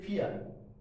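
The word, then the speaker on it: vier: Four को हम क्या पढ़ते हैं? फिया। ठीक है? फिया और से और इसको हमने यहां पे प्रोनाउंसिएशन में और वाक्य में ख्याल करना है। फिया से नहीं पढ़ना। फी से पढ़ना है।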